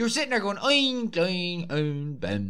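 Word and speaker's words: Glóin: So I'm going to get the name wrong because I always called him Groin instead of I know it's Gloin.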